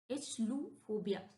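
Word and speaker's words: achluophobia: Okay फिर है next इचलू इचलू फोबिया। इसको हम इचलूफोबिया पढ़ेंगे।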